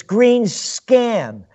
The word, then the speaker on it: Greenspan: you got the name you got the name wrong it's green scan another little slimy so